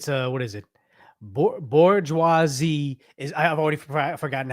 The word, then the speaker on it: bourgeoisie: class, the proletariat, and the owning class, the bourgeoisie. Good God, that's a now we gotta ask Google.